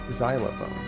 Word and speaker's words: xylophone: or your ex-wife um but sometimes x sounds like an s like xylophone i believe it's spelled with the x but it doesn't sound like excellent it's not xylophone it's xylophone it sounds almost like a z and an s combined it's weird exe is easy